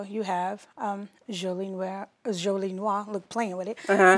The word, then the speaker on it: Jolie Noire: Jolie Noire.